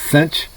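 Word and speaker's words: sinh: uh hyperbolic functions section 6.9 uh hyperbolic functions include the hyperbolic sine abbreviated s-i-n-h pronounced cinch hyperbolic cosine abbreviated uh c-o-s-h etc they get their name from the identity cos squared minus inch squared equals 1.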